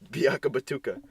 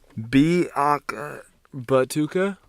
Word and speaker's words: Biakabatuka: last name pronounced Biakabatuka. Biaka Batuka. All right, here we go. Batuka. Ready? Are you ready? Biaka Batuka. Yeah, Biakabatuka.